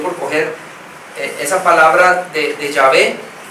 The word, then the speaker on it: Yahvé: La Biblia, obviamente, usted lee y encuentra Jehová, pero mejor, no sé, dicen que la mejor pronunciación es Yahvé.